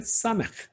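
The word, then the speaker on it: סמך: 그 다음에 사맥, S 발음입니다.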